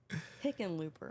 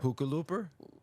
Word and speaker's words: Hickenlooper: Yes, Hickenlooper. Hookalooper? Like it phonetically, it looks like chicken looper.